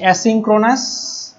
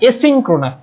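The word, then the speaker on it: asynchronous: সিরিয়ালকে আবার আমরা 3টা ভাগে ভাগ করছি, একটা হচ্ছে অ্যাসিনক্রোনাস, অ্যাসিনক্রোনাস, তারপরে আছে সিনক্রোনাস, এবং হচ্ছে আইসোক্রোনাস।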